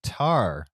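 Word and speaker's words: Tár: My number 6 is the previously mentioned Tar. Accent on the A.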